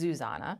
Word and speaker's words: Zuzana: funny do you say Suzanna or or zuzanna first of all it's zuzanna Zanna but I am guilty of doing the other way if I think it's just easier for the other person what is your husband